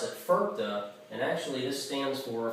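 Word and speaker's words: FIRPTA: on here it's actually an acronym and i pronounce it ferpta and actually this stands for for all of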